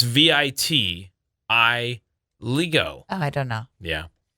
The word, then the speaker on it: vitiligo: It is also World Vitiligo Day. Is that how you say it? Oh. It's the pigment condition where some of your. Oh, Is that how you say it? infantigo.